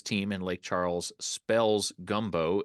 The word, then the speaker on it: Gumbeaux: in Lake Charles spells gumbo it is guu m b Au X which friend speakers will know that e Au and then with an X or an s on it or whatever is is pronounced like the letter O How come uh you